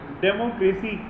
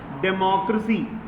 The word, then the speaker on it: democracy: एक वर्ड आप लोग गलत प्रोनाउंस कर रहे हैं बार बार, वो ये है डेमोक्रेसी। गलत है, डेमोक्रेसी। डेमो नहीं होता है, डेमो, डेमोक्रेसी।